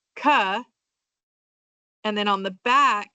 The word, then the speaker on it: CAH: And then CAH is going to be pronounced ka.